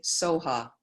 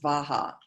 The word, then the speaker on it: Svaha: Tare, Tu Tare, Ture, Soha. So the Tibetans they weren't able to pronounce V. So that syllable often is Soha. Sometimes it's pronounced Svaha.